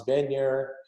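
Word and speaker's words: Wegner: was danish designer named hans been here who that's spelled weg ner figure for those danes and they're silent w's you know he he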